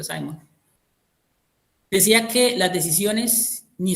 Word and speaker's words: Simon: la administración, Herbert Simon, se escribe Simón, pero se pronuncia Simon, decía que las decisiones ni son buenas ni son malas.